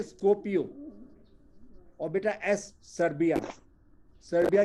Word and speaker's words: Skopje: फिर बेटा एम से आया बेटा मासेडोनिया, मासेडोनिया की कैपिटल बेटा, इसमें भी देखो जी आया हुआ है, SKOPJE, स्कोपियो, SKOPJE बोलते हैं स्कोपियो।